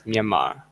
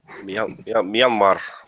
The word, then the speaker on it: Myanmar: We'll have to teach you how to pronounce. is Myanmar. Myanmar.